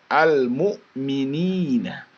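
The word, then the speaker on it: المؤمنين: Jadi bacanya jangan al-mu'minina, al-mu'minina, al-mu'minina. Ada suara le-nya di situ. Ya. Kalau sampai ada suara le-nya itu, ya, nah, itu berarti lamnya itu diqalqalahkan atau dimembalkan.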